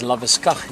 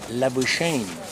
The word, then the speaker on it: Labuschagne: pronounce his name, because ek ken dit in Afrikaans as Labeskag nie, but you know, we've got a guy I think playing cricket in Australia and they say Labuschagne.